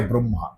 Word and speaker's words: ব্রহ্ম: পর্যন্ত জগত তৃপতিত আ ব্রহম এই ব্রহমটা মানে ব্রহম মানে আমি যেটাকে ব্রহম বলছি আসলে বয়রফলা হয়ময় দিলে ব্রহম উচ্চারণ হয় আপনারা সবাই সেটাকে ব্রহ্ম বলে বানান